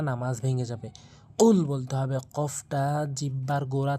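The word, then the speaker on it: قُل: আমরা এখানে আমরা ভুল উচ্চারণ করে বলি। কুল যার অর্থ দ্বারা হে রাসূল আপনি খান ভুল অর্থ এটি বলা যাবে না। নামাজ ভেঙ্গে যাবে। কুল বলতে হবে।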